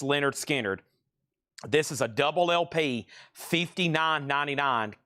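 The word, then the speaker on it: Lynyrd Skynyrd: Leonard Skard's pronounced Leonard Skard.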